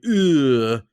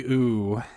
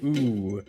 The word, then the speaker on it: Öoo: Okay, this first time I say it, I'll say ugh because of the umlaut O. However, I think it's just supposed to be O. I think it's supposed to be ooh.